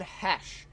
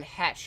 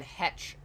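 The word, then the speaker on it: Heche: It's Anne Hesh. Anne Hesh. I was pronouncing it like Anne Hetch before, but it's Hesh.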